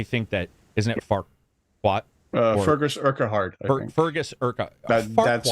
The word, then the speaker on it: Fergus Urquhart: Fergus Urquhart. Fergus Urquhart. That's how I would pronounce Shrek.